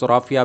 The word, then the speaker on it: Rafih: और इस यहाँ के मुकामी लोग आपको राफ़िया बिन हबीब के नाम से पुकारा करते हैं, और असल में प्रोनाउंसिएशन राफ़ी है इन सरकार का नाम।